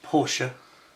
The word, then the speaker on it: Porsche: Porsche. There we go. Yes, it's pronounced Porsche, I'm told, by a reliable source.